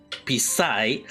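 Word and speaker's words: 鼻屎: Is in Teochew is pronounced as pisai, which is very near to pizza.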